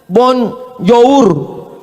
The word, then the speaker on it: bonjour: Tulisannya bonjour. Bacanya bonjo. Bonsoir, bonsoir.